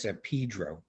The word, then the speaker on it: San Pedro: Although it's pronounced, and we're Easterners, it's pronounced San Pedro. You have to be from LA to know that, but it is, which is ridiculous.